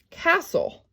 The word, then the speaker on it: castle: have a word like castle or hustle right so what happens here is i've got the ca soul i've got a close syllable again but the t is silent so it's a constant